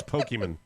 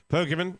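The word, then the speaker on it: Pokémon: and what happened with tail hook next calls pokeyman pokeyman oh I'd like to pronounce it pokiman let's listen to poker hey Mike Oscar rod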